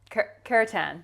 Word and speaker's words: kirtan: And it's called, what you practice is, I'm going to get the pronunciation right, kirtan.